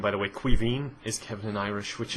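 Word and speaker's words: Caoimhín: you know That's My Name by the way Quine is Kevin and Irish which is really awkward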